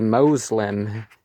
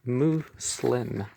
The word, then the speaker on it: Muslim: And we are starting with, that's the picture, the Muslim, and the Moslem is probably how some people are going to pronounce this, but it's Muslim.